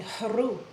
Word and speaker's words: haru: Now, in the ancient language, we would say haru, and when you say the word in the correct pronunciation, you can feel an activation. The h of the haru, the forceful sound coming up, is actually contacting meridians in the throat, which connect with the